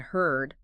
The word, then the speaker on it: heard: Hard and heard. Heard. Heard. Hard has the R sound like in car. Oh, hard. Heard has the R sound like bird.